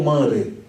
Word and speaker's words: Manre: Porque o R está depois do N. Então você tem uma sílaba fechada. Todas as vezes que você tem uma sílaba fechada, aqui no caso o N está fechando a sílaba, a vogal é um núcleo. Quando o R vem nessa sequência, né, de uma sílaba fechada, ele tem um som de re e não de re.